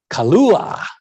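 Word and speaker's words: Kahlúa: nice little drink here kalua now notice the spelling you got a k you got a silent h you got an accented u there you got a polynesian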